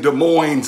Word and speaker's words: Des Moines: and then you got the e and s which are silent you know like in des moines and illinois and arkansas yeah uh-huh knack-a-dish spelled